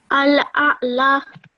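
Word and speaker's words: الأعلى: Al-a'la. Well done. Okay, so this lam has a simple fatha, so you only pronounce it for 1 second.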